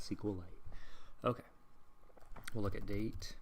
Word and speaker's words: SQLite: because it has because now i know that it only has two syllables to save time i'm going to call it sequel light okay we'll look at